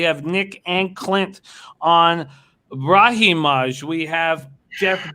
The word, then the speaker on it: Brahimaj: Brahimaj. Brahimaj.